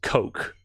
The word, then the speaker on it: Koch: I'd like to believe that the most proper pronunciation is Coke, like the soda, but I suppose that it doesn't really matter.